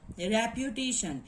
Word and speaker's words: reputation: Re is a strong, and then pu, not strong, and this syllable here is diphthong, and this is the weak syllable. Okay, and in comparison of three syllable, tay syllable is more prominent than the other all.